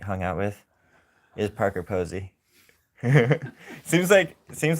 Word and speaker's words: Posey: Posey.